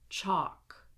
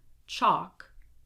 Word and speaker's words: chalk: So in all of these words here, the L is silent. Do not pronounce it. Here we go. Would, should, could, walk, talk, half, chalk, salmon. Again, would, should, could, walk, talk, half, chalk, salmon.